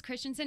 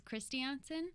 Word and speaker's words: Kristiansen: Norway and everyone says Christensen and it it's not that it bothers me at all but the way it's actually pronounced is Christiansen okay yeah yeah and